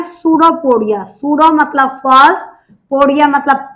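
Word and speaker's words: pseudopodia: इसलिए इसको सूडोपोडिया बोल दिया। पी साइलेंट होगा और स्पेलिंग इसकी पी से स्टार्ट होगी।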